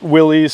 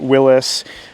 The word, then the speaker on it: Willys: Um and some people call it Willys, some people call it Willis.